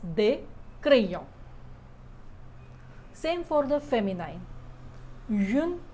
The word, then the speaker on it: crayons: Don't pronounce the S, des crayons.